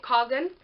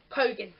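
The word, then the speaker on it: Khagan: I was pronouncing it Kargan, but it's pronounced Kogan.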